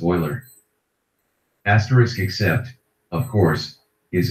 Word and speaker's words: Euler: Pronounced Euler.